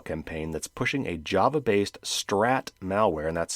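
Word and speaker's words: STRRAT: a massive email campaign that's pushing a Java-based Strat malware, and that's spelled S-T-R-R-A-T. That's short for something. RAT is a remote access Trojan, which is a type of malware. Anyway, it's called Strat, to steal confidential data from infected systems while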